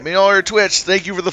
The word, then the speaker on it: Mjolnir: I'm gonna have a hard time pronouncing that. I'm gonna be honest with you. Mjolnir. All right, Mjolnir Twitch.